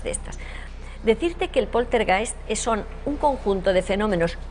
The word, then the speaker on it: poltergeist: Bueno, pronúncialo tú porque... Bueno, verás, poltergeist.